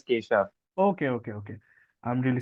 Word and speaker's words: Kesav: So I think the first question just just just a tiny thing it's it's the spelling is K SAV but pronunciation is Kisha.